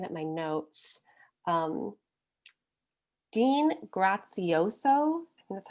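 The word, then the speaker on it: Graziosi: things i'm looking at my notes um dean grazioso that's how you say his name he spoke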